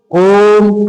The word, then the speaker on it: ओम: लेकिन इसका जो हमारे मुंह से उच्चारण होता है वो उच्चारण क्या होता है? जैसे अपन उच्चारण में बोलेंगे, बोल के देख लो, ओम, तो इसमें से इतनी लंबी ध्वनि निकल के आएगी हमारे सामने।